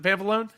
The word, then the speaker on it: Pampalone: I have the pleasure of welcoming Super Elizabeth Pampalone. Did I say it right? Is it Pampalone? That's right. God, nailed it.